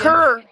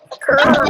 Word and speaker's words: Kerr: Is it Ikeria or Akira? It's Kerr. Yeah, it's like Why you using your whole damn name, government name and shit? Damn. Kerr.